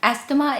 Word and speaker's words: asthma: Asthma is supposed to be pronounced as asthma.